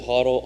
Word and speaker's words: HODL: Everyone on the CNBC and such says HODL. I say hold. It's not in the dictionary yet, so it's hold.